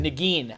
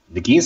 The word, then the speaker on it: Nguyen: Nagin. I never knew how to pronounce it.